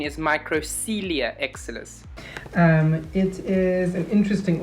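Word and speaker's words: Microcoelia exilis: excited to show you and it is a micro corelia and excellus the correct pronunciation is microcelia excellus um it is an interesting orchid and i'll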